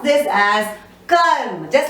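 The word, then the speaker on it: कर्म: The same way we just touch upon R, we don't pronounce it fully, but it is written on top of the next vyanjan.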